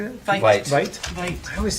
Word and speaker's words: Veit: Vite. Vite? Vite. I always say it wrong. Yeah. Vite. They spell it, it should be V-I-E. It's Vite. V-I, but Vite.